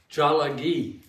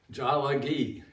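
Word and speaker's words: Tsalagi: They call themselves Jalagi. Jalagi.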